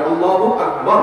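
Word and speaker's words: الله أكبر: আল্লাহু আকবার উচ্চারণ করার সময় আকবারের রাকে টেনে পড়া ঠিক হবে কিনা? না, ঠিক হবে কেন? তাকবীরের সাথে বলতে হবে আল্লাহু আকবার, আল্লাহু আকবার, এরকম বলা যাবে না।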